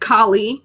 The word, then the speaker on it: Kali: Is it Callie? I thought it was Kali. It's what? It's pronounced Kali. Yeah, you're right, but it's spelled like Kali.